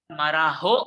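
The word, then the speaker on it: Marajó: And the major features are Marajo Island, J is pronounced as H, Marajo Bay, and São Marcos Bay.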